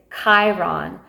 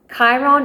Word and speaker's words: Chiron: bit later the first one we have is Kiron Chiron is known as the wounded healer and its